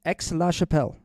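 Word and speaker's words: Aix-la-Chapelle: 99% of the time it's pronounced X oh it's X La Chappelle yes thanks for looking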